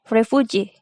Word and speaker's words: refugee: refuge it will be refugee so primary stress is on g and secondary stress is on ref and primary stress remains